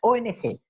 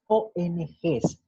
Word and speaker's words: ONGs: Pero cuando estamos leyendo, aunque la sigla no tenga la S al final, esa S tenemos que pronunciarla, aunque no esté. Es decir, si estamos leyendo, no vamos a decir, por ejemplo, las ONG. No. Tenemos que decir las ONGs, aunque la S no exista al final.